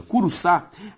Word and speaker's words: Curuçá: Curuçá tem como sílaba tônica a última, logo uma palavra oxítona.